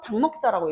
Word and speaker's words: 닭먹자: 일곱 개니까.이 이 일곱 개 중에 하나로 발음이 돼야 되는데 리을 기억 닭 우리 닭먹자라고 얘기하잖아. 그지? 리을 기억 중에선 리을이 떨어져 나가면서 당먹자라고 얘기해.